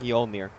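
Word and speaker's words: Mjölnir: Mjolinir. Mjolnir.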